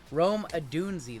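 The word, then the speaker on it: Odunze: Russell Wilson, Tyrann Mathieu, Christian Kirk, Rome Adunzi. Adunzi, let me get it right. Rome Adunzi. They roasted me in my video I uploaded today. Listen, Got the mispronunciation wrong.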